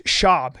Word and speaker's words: Schaub: was Venezuelan where's Brandon Schwab from it's shab you have to say his name right Brennan shab yeah Brennan shab he